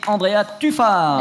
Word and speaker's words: Andrea Tufano: Et Andrea Tufano. Et le meilleur pour la fin. Oui, c'est prononcé à l'italienne.